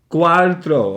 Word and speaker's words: cuarto: Oh, I said because I said cuatro. Yes, it's. How do you say that? Cuarto. Okay. So the R is in front of the T. The R is in front of the T, not behind, and it's okay.